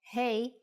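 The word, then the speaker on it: ה: time for Jana's insights doesn't hey from this lesson sound like hey in English when you say hello to your friends that's exactly the sound for the Hebrew letter hey now you can think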